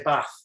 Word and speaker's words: bath: okay right okay so I'm originally from the north of England and I would say bath so I'm gonna have I'm gonna I'm gonna have a bath I'm not gonna take a bath I'm gonna have a bath but you can also use in the UK bath um and this is this